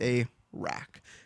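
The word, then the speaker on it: Arrak: is the breath of a r r a k that's how you spell it it's a rack and it is a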